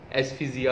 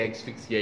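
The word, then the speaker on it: asphyxia: इसे भी प्रोनाउंसिएशन, तीन मुख्तलफ मैंने डिक्शनरीज में, प्रोनाउंस वाली में देखा, तीनों में मुख्तलफ था। आप जो भी इसको ले लें, एस्फिजिया भी था। और आपको पता है कि ये टेक्निकल वर्ड्स हैं और मुख्तलिफ जगहों पे मुख्तलिफ तरह से कुछ इनका प्रोनाउंसिएशन भी मौजूद है। मैं ऐसे एस्फिक्सिया ही कहता हूँ स्पेलिंग को समझने के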